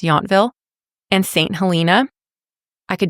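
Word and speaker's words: Yountville: a few Charming small towns around Napa like yville it's spelled yville but pronounced yville and St helina I could definitely recommend them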